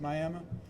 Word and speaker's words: Miami: Spelled Miami, but it's Miami.